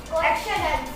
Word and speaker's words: question: मेरे पास एक वो एक्शन क्वेश्चंस, Questions. क्वेश्चंस नहीं, क्वेश्चंस, Questions. क्वेश्चंस। Question. Yes. Question. Now this is right pronunciation.